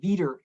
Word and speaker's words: VDER: distributed energy resource or vder veter is how sometimes pronounced now you might think